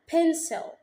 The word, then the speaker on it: pencil: نيجي عند البي ونطلع هوا، والسي لما يجي وراها I أو E أو Y تتنطق س. هنا جي وراها I فاتنطقت س. الكلمة دي بقسمها مقطعين. pencil.